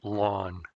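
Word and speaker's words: ln: log base E and we pronounce it lawn and that completes this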